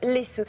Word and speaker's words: Læsø: péninsule elle s'appelle laisseux ça s'écrit l a e s O c'est au Danemark et ça se prononce laessux c'est une toute petite